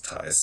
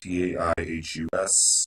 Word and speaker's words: Taihus: Also, it's Taihus, Taihus. The H is silent.